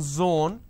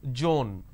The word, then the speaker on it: zone: as well for example it's Zone instead of saying Zone they pronounce this as Joan these are the mispronunciation